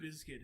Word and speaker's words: Bizkit: over zombies so Limp Bizkit is back like biscuit for the record do you mind that's spelled b-i-z-k-i-t and I don't know